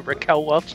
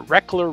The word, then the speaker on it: Raquel Welch: to spell it and i remember calling her reckler reckler and i asked my mom or dad how do you say that no that's raquel welch and then i realized